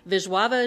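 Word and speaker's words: Wisława: read a poem by vava jorka and um there's not a v in her name but that's how you pronounce it and when I use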